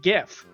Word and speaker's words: GIF: of people call it GIF.